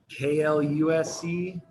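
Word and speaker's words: Klaus: Kluse, like a clause, only like a K clause.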